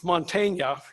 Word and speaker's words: Montaigne: 500 years ago, there was this little French guy named Michael de Montaigne, and I looked that up to make sure I'm saying it right, Mr.